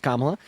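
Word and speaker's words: Kamala: uh first of all commala Harris's name is pronounced kamla second of all you're right uh Donald Trump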